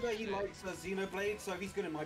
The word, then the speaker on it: Xenoblade: Let's be real, Hugh, it's Xenoblade, it's not Xenoblade.